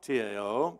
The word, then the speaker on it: Tao: That's like the Zen Buddhist who says, the Tao, T-A-O, pronounced D-O-W, the Tao is beyond thought.